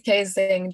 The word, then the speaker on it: ksxingh: So I never actually know like how to pronounce it, but I think it's ksxingh, right? It is ksxingh, don't worry, you've got it right.